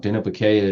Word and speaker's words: Dineh-bi-Keyah: And that's and that's also happening at Denobaya. Yep. How do you pronounce that again? Because I always say it wrong. Denobaya.